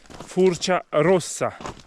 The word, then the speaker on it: Furcia Rossa: Il mio amore mi fa notare che in ladino si pronuncia Furcia Rossa, quindi non rossa. Rossa in ladino è marrone, quindi la montagna marrone.